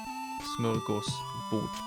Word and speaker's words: Smörgåsbord: I think it's cool that English people use that word, borrowed word, you know, smorgasbord, which is actually pronounced smör with a. Smörgås and å instead of o. Smörgåsbord.